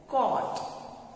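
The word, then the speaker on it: caught: Catch का past tense होता है कॉट. Catch कॉट. Again spelling भी अलग है और उसका प्रोनंसिएशन भी बिल्कुल अलग है.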